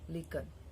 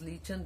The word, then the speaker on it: lichen: patches of bright orange lichen. So this can be pronounced as lichen, this can be pronounced as lichen. So this is kind of fungus.